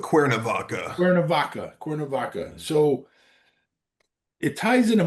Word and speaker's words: Cuernavaca: episode on that Mexican town, Quanavaka. Is that how it's said? Is how it's said? Yeah, I go with Cuernavaca.